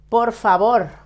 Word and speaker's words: por favor: Por favor, the same. It doesn't end in vowel or in S or in N. So you should stress the last syllable.